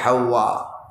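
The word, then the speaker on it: حواء: নারীর নাম হলো হযরত হাওয়া বাংলায় আমরা হাওয়া বলি আরবিতে সঠিক উচ্চারণটা হলো হাওয়া হযরত আদম আর হাওয়া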